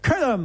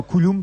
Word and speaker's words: Jamie Cullum: Noire à Paris, Jamie Cullum, on doit dire, et pas Coulomb peut-être.